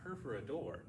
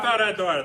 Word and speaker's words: perforadora: Lastly, we're going to be taking our perforador. La perforadora. I La said it wrong. perforadora. I said it wrong initially.